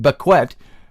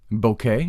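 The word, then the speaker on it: Baquet: captioned by editor Dean bequet or beckette if you want to pronounce it that way I I know how to pronounce his name betet b a q u t Boke Dan Boke Dean Boke uh we learned the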